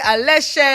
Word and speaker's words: Aléshé: It's Babatunde Aleshe. Hey! Babatunde, West African to West African. Did I come correct with your surname pronunciation? 100%.